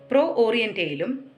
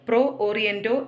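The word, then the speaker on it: Pro Oriente: Roman Catholic orthodox സഭകളുടെ ഡയലോഗിലും ഓറിയന്റൽ orthodox സഭകളും Roman Catholic സഭയും തമ്മിലുള്ള കൂട്ടായ്മയായ പ്രോ ഓറിയന്റയിലും അദ്ദേഹം സജീവമായ നേതൃത്വം നൽകുകയുണ്ടായി. പാഠപുസ്തകത്തിൽ പ്രോ ഓറിയന്റോ എന്നാണ് കൊടുത്തിരിക്കുന്നത്. പ്രോ ഓറിയന്റേ എന്നാണ് കൃത്യമായ ഉച്ചാരണം. ഭാരതത്തിലെ എക്യുമെനിക്കൽ സംരംഭങ്ങളായ കേരള കൗൺസിൽ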